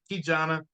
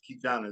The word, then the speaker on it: KeJohnna: KeJohnna, my mother was studying Swahili, and actually, it's a great story. Yes, KeJohnna is how you pronounce it.